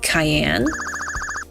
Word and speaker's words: Cayenne: You say your name is Cayenne? Yeah, it's pronounced like a Peppa.